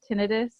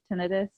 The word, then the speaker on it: tinnitus: I hate saying it I always like I say it tinnitus I don't like to say it tinnitus but I think it's pronounced tinnitus which I hate saying it I like to call it tinnitus anyway doctors call it both so I don't even